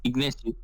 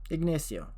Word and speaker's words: Ignacio: It's Ignacio. Say it again? Yeah, doing good, doing good. Ignacio is in Spanish. I say it at least in Spanish. Ignacio.